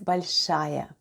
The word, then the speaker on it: большая: The first sound is b, then we have o, which is unstressed and is pronounced as a, then goes l, soft